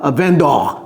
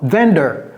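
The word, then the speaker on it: vendor: Un vendeur, ce n'est pas vind d'or. Vin d'or. Non, ça c'est français d'or. Non. Vender. Vender. Vous voyez ? Bender, c'est quoi cette syllabe là ? Et bien c'est ça. Bender.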